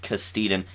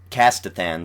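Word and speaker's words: Castithan: and it's apparently an old castan and Castathan. Sorry, I'm going to have to get used to that because I did actually learn how to pronounce all these races in this episode.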